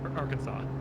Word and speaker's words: Arkansas: そろそろヒューストンのジョンソン宇宙センターじゃねえ How do you pronounce that one? Arkansas? Arkansas.